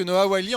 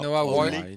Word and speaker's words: Noah Hawley: on sent que Noah Wiley en profite pour vraiment enfin, s'exerce, Sûr que tu s'applique. prononces comme il le faut, Noah. C'est Noah. pas Noah. Noah Hawley.